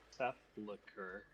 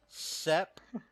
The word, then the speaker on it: sepulcher: So, and there's possibly a portal to the sepulcher in Roville Manor. Say it with me. Sepulcher.